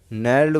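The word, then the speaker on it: gnarled: नैल्ड word है, जी silent रहेगा, नैल्ड बोलेंगे तो नार ले दे।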